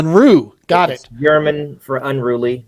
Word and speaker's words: Unruh: guys so help me pronounce the last name unra is that right it's it's close I've been called uh many things uh the correct pronunciation is unre R unru got it German for unruly but I'm I'm